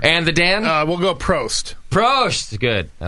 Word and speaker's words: Prost: We'll go Prost. Prost. Good. I like it. All right. Wait, isn't that 2 syllables? Prost. No, just it's one. not. Prost.